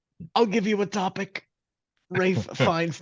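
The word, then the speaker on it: Ralph Fiennes: Rafe Fiennes' name is spelled neither Rafe nor Fiennes.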